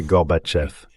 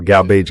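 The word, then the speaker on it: Горбачёв: J'ai appris au vice-président George Dabou Bush à prononcer Gorbatcheev. Il me dit "Oui, oui, d'accord, Garbage.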